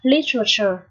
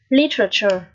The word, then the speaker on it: literature: Từ văn học này chúng ta đọc là literature. Trọng âm ở đầu nhé, literature, như thế nào?